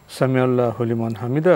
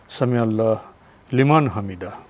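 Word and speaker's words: سمع الله لمن حمده: এটাই বিশুদ্ধ উচ্চারণ কারণ সামি আল্লাহ এবং লিমান হামিদা এই দুই এর মধ্যে কোন ধরনের ফসল নেই ফসল মানে কোন ধরনের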